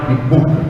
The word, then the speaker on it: Kibuuka: Brian Ibuka, é isso, né? Assim que se pronuncia.